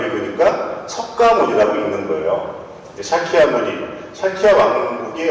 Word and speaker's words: 석가모니: 석가모니가 무슨 뜻이냐면 샤키야 무니라고 하는 산스크리트어를 한자로 바꿔서, 샤키야 무니라는 산스크리트어를 한자 비슷한 음으로 바꾼 게, 원래는 이제 중국 발음은 스자문이죠. 스자문인데 우리는 그 한자를 우리 발음으로 읽으니까 석가모니라고 읽는 거예요.